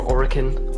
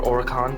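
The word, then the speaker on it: Oerlikon: You see some of our 20mm Oricon or Oricon, depending on how you want to pronounce it, anti-aircraft single barrel mounts.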